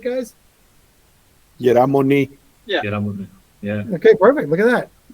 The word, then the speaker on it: Moni: Moni, did I say it right, guys? Yeramoni.